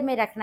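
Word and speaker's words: Marie: ले ली है और मेरे पास यहाँ पे मरी बिस्किट के 3 पैकेट है। एक पैकेट में 12 बिस्किट हैं। अक्सर लोग इसे मैरी बिस्किट भी कहते हैं, लेकिन इसकी सही प्रोनाउंसिएशन मरी है।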